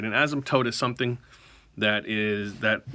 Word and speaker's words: asymptote: y m p t o t e it's pronounced asymptote right an asymptote is a line that approaches